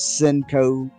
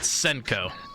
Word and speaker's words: Senko: yeah and then uh the blade's name and this is what really riles me up is cinco cinco cinco cis like five it's called senko but i said it like an excited person would of course miss pronouncing it and i'm like well hell